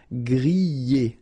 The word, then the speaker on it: griller: We've got so many exceptions, but in most of the cases, you will pronounce it y, okay? Griller, that's the reason why.